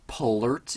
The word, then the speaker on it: Palert: So we have one last tweak to talk about, and this is called Palert. It's spelled P-A-L-E-R-T.